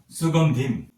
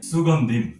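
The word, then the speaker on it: সুগন্ধিম্: পরবর্তীতে আমি সুগন্ধিম। এটি অনুস্বারের উচ্চারণ আমি একটু আগে আপনাদেরকে বললাম অনুস্বার উচ্চারণ হবে ম। সেক্ষেত্রে এটির উচ্চারণ হবে সুগন্ধিম।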